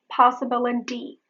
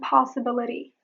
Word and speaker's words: possibility: Flap your palate with your tongue to make a subtle D sound.